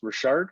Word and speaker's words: Richard: of course you know my last name is richard pronounced richard it's the french version coming from the maritimes like yourself so i